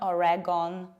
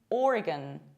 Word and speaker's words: Oregon: And this state is not Oregon, it's not Oregon, it's Oregon, Oregon. Or, long O, R, gun. Imagine this O is not pronounced. Gun, Oregon.